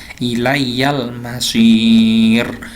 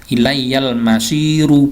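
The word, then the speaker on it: إِلَيَّ الْمَصِيرُ: ro yang berharakat dma cara bacanya Bagaimana ilaiyal masir panjang rnya dimatikan ilaiyal masir walaupun di sini ada harakat eh dma rnya berharakat jadi hidup tapi dibaca mati sama kayak dengan yang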